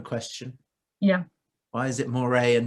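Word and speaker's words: Mouret: yeah why is it moire and not moretz because he's french that's how you pronounce it oh like parry we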